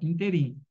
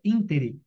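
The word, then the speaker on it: ínterim: garagem todos estão corretos a gente fala interin né mas o correto é intere por isso nosso gabarito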